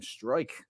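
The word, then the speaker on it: Struijk: Struik. How do you say that guy's name? Strike.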